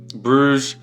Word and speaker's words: Borouj: That is how I have been told that it goes to be pronounced. Borouj.